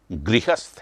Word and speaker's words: गृहस्थ: तो गृहस्थ नहीं है, नो, गृहस्थ है। इसका उच्चारण भी गृहस्थ है, तो गृहस्थ।